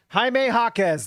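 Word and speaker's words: Jaime Jaquez: Kiante George Taylor Hendricks Larry Mark and ochaibaji Jaime Hawkes that's how you say it he's going to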